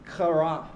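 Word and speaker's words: חרה: in the front row, in case I have to pronounce that C-H or K in Hebrew. You can't really do that without saliva coming out of your mouth. If you can practice in front of a mirror, if you hit the mirror, you've pronounced it correctly.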